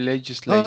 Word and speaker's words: legislate: Appropriate delegate will legislate. Not delegate, delegate. Delegate. Yes, delegate. And legislate. Ate being the sound at the end of the verb.